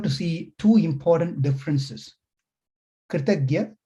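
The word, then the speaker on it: कृतज्ञ: Kritagya, Kritagna. These are two Sanskrit terms with a very slight one syllable difference. The whole context changes. Kritagnya, Kritagna.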